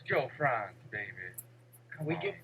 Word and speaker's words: Frantz: It's Joe Franz, baby. Come we on, get man. tight. We keep it The right. T is silent.